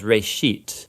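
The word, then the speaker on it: רֵאשִׁית: It's pronounced reshit, and it just means beginning.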